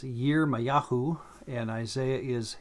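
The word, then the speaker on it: Yirmeyahu: original hebrew than english jeremiah is year mayahu and isaiah is yeshayaou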